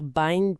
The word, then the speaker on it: BIND: Parfois, on parle de la dysfonction neurologique induite par les benzodiazines, on va dire bind puis on va le prononcer comme le verbe anglais tout binde.